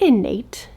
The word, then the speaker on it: Innate: Dude, is it innate? It's spelled like innate. And I have no idea why I've been saying init life.